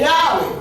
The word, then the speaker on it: Yahweh: If you ask the Hebrew man to pronounce this, he will say Yahweh.